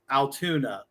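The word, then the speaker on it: Altoona: Spelled with O's and not a U. Correct. Correct. Sounds like Toon Town. Yes. Toontown. Yes.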